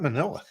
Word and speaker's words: Manila: Hey, I forgot all about Manila, Not today, man. which rhymes with vanilla.